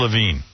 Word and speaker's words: Lavigne: uh or with levi what is her name avril lavigne but it's spelled levine yeah she received five